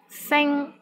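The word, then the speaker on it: 星: a syllable in european sen which means star sing one here the initial sound is s and final sound is in ing and the syllable is in the first tone the tones in european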